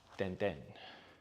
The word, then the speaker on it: Tintin: Is said like the E in Emma. Ten ten.